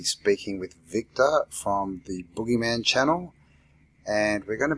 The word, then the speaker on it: Buggeman: Yeah, the Buggeman. Yeah, I know it's hard to pronounce. Yeah. Yeah, it's kind of it's a play on the Boogeyman because Boogie, we're boogeymen that are coming and scaring people.